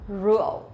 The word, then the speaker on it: rượu: Okay, if you really want to pronounce this one correctly, it'll be rượu. Rượu. But for Vietnamese people, when we pronounce the R sound, we will not pronounce like R in English, but we pronounce like Z sound in Vietnamese, or in English, rượu.